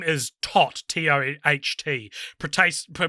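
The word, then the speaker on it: Toht: but his name is tot t-o-e-h-t pretty pronounced like todd the german word for death the role was offered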